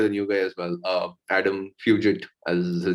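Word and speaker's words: Fugitt: I actually thought he would finish it off much quicker, but I was impressed by the new guy as well, Adam Fugit, as his name is pronounced.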